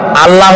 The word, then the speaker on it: আল্লাহ: বলেন তো আল্লাহ নয় কিন্তু আল্লাহ হচ্ছে অশুদ্ধ শুদ্ধ হচ্ছে আল্লাহ বলার সময় মুখটা গোল হয়ে যাবে বলেন তো সবাই উচ্চারণ করেন আল্লাহ আবার বলেন আল্লাহ আবার বলেন